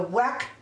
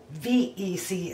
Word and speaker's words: Weck: come on over now the wack canning jars are from Germany and they're actually pronounced vac VEC instead of W easy oh my goodness